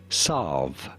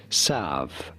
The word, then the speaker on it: salve: is normally pronounced as solve solve pretty straightforward however in American English the L is silent and not pronounced therefore it is usually said as serve serve but there we